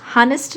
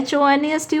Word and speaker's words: honest: ऑनेस्ट, हानेस्ट नहीं बोलते, हम क्या कहते हैं, HONEST होना चाहिए हॉनेस्ट, लेकिन हम बोलते हैं ऑनेस्ट।